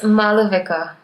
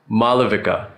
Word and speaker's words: Maalavika: It's Maalavika. Maalavika. Yeah, and sometimes the after lo is also like silent depending on who you are and how you say it.